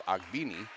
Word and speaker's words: Ogbini: I asked the young lady, and she said, yes, that's how you say it. It's Ogbini.